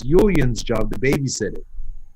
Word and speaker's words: Julian: It's like And what a J, god- except pronounced with a Y. Julian.